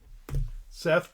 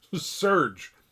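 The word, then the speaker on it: Serj: Ladies and gentlemen, Seth Tarkinagarian is the best. Serge Serge, I think is how you pronounce it. Not Seth.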